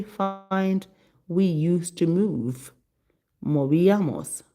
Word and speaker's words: movíamos: Movíamos. M O Accent on the I. Movíamos.